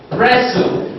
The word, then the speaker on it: wrestle: In a word like wrestle, wrestle, the letter T word is silent.